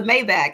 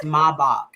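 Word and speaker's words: Maybach: I actually I was like oh it's a mayback and he was like no it's German it's pronounced maok so I mean he fooled me on like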